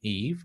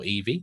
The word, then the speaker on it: Eevee: So we've got an immediate benefit of using Eve or Eevee, depending on how you want to pronounce it, throughout our workflow.